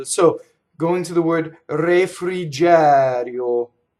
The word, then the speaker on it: refrigerio: Okay, so going to the word refrigerio is open E on the stress, closed E on the unstressed.